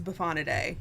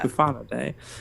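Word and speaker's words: Bufonidae: I said Buffonidae? I Buffonade. think Matthias pronounced it right for us. It was Buffonidae. Yeah. Buffonidae.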